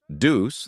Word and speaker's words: Dubus: Dubus is the original French.